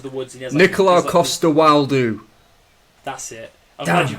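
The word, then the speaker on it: Nikolaj Coster-Waldau: So it's the movie where he goes out into the woods and he has Nicola Costa-Waldau. That's it. I'm glad you pronounced so that.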